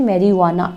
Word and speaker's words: मैरीजुआना: मैरीजुआना बोला जाता है और इंग्लिश में मैरीजुआना, जी साइलेंट हो जाता है बेटा।